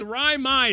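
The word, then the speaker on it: Raimi: raai uh ryy ryy it rhymes with liy it's Ry my stick to the script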